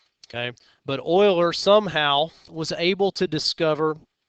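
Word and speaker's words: Euler: oil O's formula and that is the way his name is pronounced even though that's not the way it looks okay but Oiler somehow was able to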